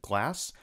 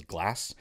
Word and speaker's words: Glaz: pronouncing it wrong before it's not GLA it is glass so what we're going